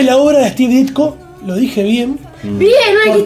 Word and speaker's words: Ditko: La vida y la obra de Steve Ditko. Lo dije bien. Bien, no dijiste dicto. Yo digo, de toda la vida digo dicto. Y me enteré Lafteria. que no era dicto hace pocos años.